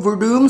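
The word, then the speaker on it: Werdum: didn't watch it that's Fabricio verdum spelled with the w beat big nog in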